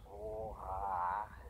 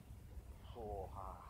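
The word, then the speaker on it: svaha: Soha. Soha is Tibetan for swa. The Tibetans can't pronounce the V as in Victor, so they pronounce it Soha.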